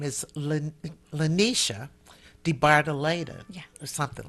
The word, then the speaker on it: DeBardelaben: at the museum, and her name is LaNesha DeBardelaben, Yeah. or something like that, right? Say Yes. it, pronounce it.